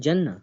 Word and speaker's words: Jannah: So how you are telling me how to pronounce the Arabic word? Because I'm a Muslim and it's always said Jannah.